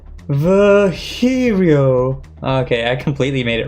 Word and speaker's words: Virgilio: You look winded, Vigilio. It's pronounced Virgilio.